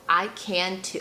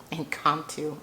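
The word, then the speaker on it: Incanto: I can too. Oh, Incantto. I've been watching too much Disney. I can too. So, it's spelled I C A N.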